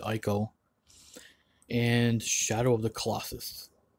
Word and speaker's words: Ico: We have Ico or Eco. Some people pronounce it Eco. I pronounce it Ico.